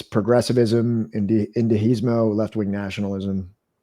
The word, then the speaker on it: indigenismo: It's progressivism, indigenismo, left-wing nationalism. How do you pronounce that?